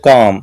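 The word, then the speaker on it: comb: letter है जो इसमें जैसे कोम सीओ एम बी कोम तो इसमें बी साइलेंट है तो काफी लेटर ऐसे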